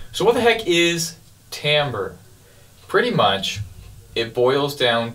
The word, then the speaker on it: timbre: Timbre and it's spelled t-i-m-b-r-e so it's spelled like Timber like a tree falling over but oddly enough it's pronounced Timbre and it's a fairly